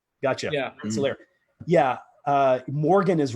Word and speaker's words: Rensselaer: I want you to say it because I've never pronounced that guy's name correctly in my life. Oh, so it's Rensselaer. Gotcha. Yeah. Rensselaer.